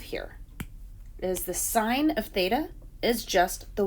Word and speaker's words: theta: bit, because where the sine of some angle, theta is how you pronounce that, is defined by opposite over hypotenuse,